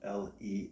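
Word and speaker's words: Leffe: a Belgium beer spelled l e FF but pronounced le le e is silent on the end that's a sweet beer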